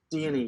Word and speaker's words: Dione: Dione, is that how you pronounce it? Dione, yeah, Aha!